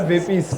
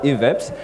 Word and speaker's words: Veppes: Yeah, it's Veppes. Not Veppes. Not Veppes, not all these other Veppes. names you've been hearing on the No. Yeah. We are still chilling with Sandile, the CEO of Veppes, and he's about to